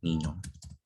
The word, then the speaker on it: mignon: Kita ke selanjutnya yaitu jika huruf G dan huruf N bertemu. Nah, ini bacanya ny ya, NY, ny. Dan contohnya adalah bahasa Perancisnya imut atau lucu. Yaitu bahasa Perancisnya itu bacanya mignon. Bukan monyong ya, tapi mignon.